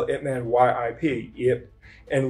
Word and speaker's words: Yip: actually spell it man yip yip and listening to sigum Kwok say it it's almost like there's a shadow of a y on the beginning of it it's not truly it man but it's not